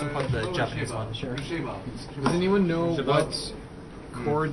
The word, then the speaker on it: Chabot: Oh, Shabo. Is this my Shabo? Yeah, Shabo. I just unplugged the Japanese one. Sure. Shabo.